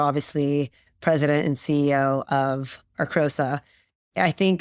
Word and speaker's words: Arcosa: And as I mentioned, you are president and CEO of, am I pronouncing this right? Arcosa, yes.